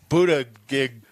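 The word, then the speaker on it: Buttigieg: joe biden today pete pete buddha gig yeah that's how you say it he said it's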